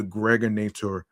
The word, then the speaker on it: Gregonator: This is your man and homie, aka the Gregonator. Rhymes with now or later.